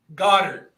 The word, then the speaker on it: Goedert: Is it Goddard? Goddard, not Goedert. Ron just put some flair on it. He's all right. Put some flair. It's Goedert. But anyway, I would go